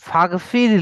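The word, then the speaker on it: فاغفر: ওকে, দেখেন ফাগফির লি, ফাগফির, আমরা এই হামজাটাকে উচ্চারণ করছি না যখন, তখন ফা গিয়ে গাইনকে ধরছে, গইনকে, সো ফাগফির।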